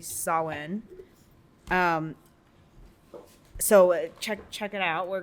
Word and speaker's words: Samhain: And so next episode, if you want to know about Samhain or Samhain as it looks like, Phonetically? yeah, but it's actually pronounced correctly Samhain.